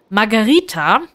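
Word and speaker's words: Margherita: weiche ausgesprochen das H das H hat im italienischen auch keinen Klang also es ist lautlos so also es wirklich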